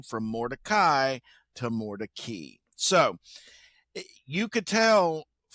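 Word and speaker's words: Mordecai: Um, and uh, Morai is a Jewish name, an old Jewish family name, but it's not actually pronounced Morai. It's pronounced Mori.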